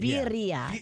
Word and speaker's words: birria: Oh, we're saying it wrong. That's Birria, right. Birria.